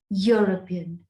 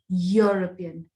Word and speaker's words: European: very important moving forward use a when e u or e sounds like y as in this case a european yeah european now again if you